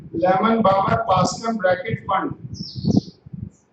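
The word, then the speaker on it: Pfund: फंड P silent होता है बच्चे इसमें, इसको पी फंड नहीं बोलते हैं, इसको फंड बोलते हैं, फंड लाइंस।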